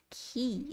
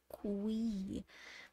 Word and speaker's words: qui: so that's really important because you can't say key if you see q-u-y it has to be Qui that is really important and the other thing